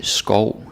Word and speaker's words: skov: Alright, and again it's important that you say it correctly, so you don't say skov, sjov, lov, behov. I mean, it's hilarious, but it's wrong.